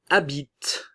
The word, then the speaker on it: habites: Tu habites. Le E et le S ne se prononcent pas.